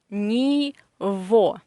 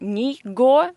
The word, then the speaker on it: него: pronounce this construction as, this g in this combination, we pronounce as v, ni vo. Not ni go, but ni vo.